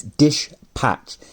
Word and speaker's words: Dishpatch: a company called dispatch not dispatch i'm not pronouncing that weirdly it's dish patch so it's dispatch but